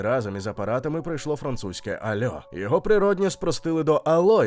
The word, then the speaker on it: allô: Французи просто не могли нормально сказати hello, замість цього їм удавалось ельо чи альо. З часом закріпився варіант альо з наголосом на останньому складі, м'який, трохи співучий, дуже французький.